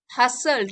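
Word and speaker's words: hustled: बट we were हसल्ड, हसल्ड T silent है, हसल्ड along to the other side of the flat as दो a band of ghosts was conspiring against us.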